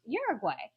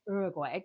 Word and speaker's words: Uruguay: is I have a friend who is from Uruguay. And I should say Uruguay because she's like, you're saying it wrong.